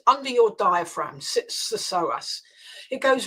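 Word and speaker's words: psoas: know it it it's the soas muscle let me spell that for your listeners PS O A the so muscle sits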